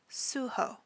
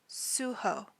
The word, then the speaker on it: Suho: leader of the group his stage name is suho suho and his real name is Kim Jun Mian